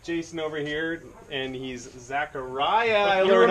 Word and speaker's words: Xaqaria: We got Jason over here, and he's Xaqaria. I learned how to pronounce it.